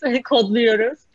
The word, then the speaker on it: Kodluyoruz: And Elizabeth, you pronounced it perfectly. It is Kodluyoruz as well.